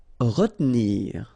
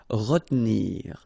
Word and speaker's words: retenir: Okay, so normally in that situation, well, you've got to pronounce this re, okay, but then you don't insist too much on this here, so it goes like retenir, retenir.